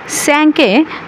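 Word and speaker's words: cinq: হিসেবে উচ্চারণ করি যেমন এখানে সিংক না হয়ে উচ্চারণ হচ্ছে স্যাংক স্যাংক মানে হচ্ছে পাঁচ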